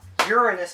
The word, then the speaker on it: Uranus: that at the end Uranus not Uranus haha Uranus is how it's actually pronounced it's the seventh closest planet to the